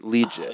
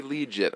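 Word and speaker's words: Liuget: signed a defensive lineman former first-round pick Corey Lee Jay you said it right Corey legit I've been practicing day Zach what do you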